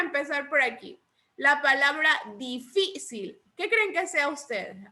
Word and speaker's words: difícil: ¿Dónde lleva la sílaba tónica? Incluso ahí ya está pintada la sílaba tónica. En la sí. En la fi. Entonces lo lleva en la última, penúltima sílaba. Fi sería la penúltima sílaba.